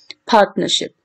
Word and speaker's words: partnership: we have this so how you're going to pronounce it partnership so this na is actually the tertiary syllable